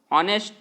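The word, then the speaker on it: honest: ऑनेस्ट। और ऑनेस्ट का pronunciation मेरे प्यारे विद्यार्थियों क्या आता है? ओ।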